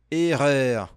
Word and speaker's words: erreur: Essa pronúncia aqui no final, ó, erreur, erreur, erreur.